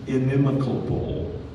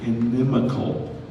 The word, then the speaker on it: inimical: be our second place the word is inimicable in Memphis I'm sorry I said it wrong inimical inimical and that is an adjective